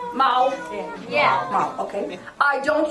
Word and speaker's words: 猫: Mao. Mao.